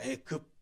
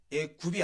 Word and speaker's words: 애급: 자고요 그다음에 자입니다 그러니까 애굽을 한자로 써서 발음하면 도금으로 어떻게가 되죠 한자의 도금이 어떻게 됩니까 애 급입니다 애급 애굽이 아니고요 한국 교회는 한국 개신교는 전통적으로 이것을 애굽으로 읽어 왔습니다 또 하나 출애굽기를 읽을